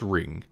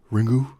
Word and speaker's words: Ringu: apparently the U is you just don't say the U it's just ring over there the movie